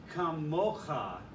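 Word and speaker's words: כָּמוֹךָ: The accent is on the second syllable, the mo syllable, and the cough has a comma. It's kamocha.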